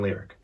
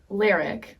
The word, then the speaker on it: Leric: They took the L and all of Eric and combine them to make It's a lyric. lyric. Yeah. So like when people say lyric, which happens all the